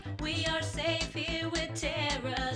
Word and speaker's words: Ptera: are safe here with teror that's b t e r a shh the p is silent